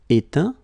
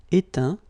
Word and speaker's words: éteint: Éteindre, éteint. Feindre, feint. Peindre, peint. Teindre, teint. Okay, as usual, final T not pronounced. Atteint, éteint. Fin, peint, teint.